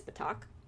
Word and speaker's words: Patak: they're saying it, is Patak. So that the K is there, it's just that K at the end.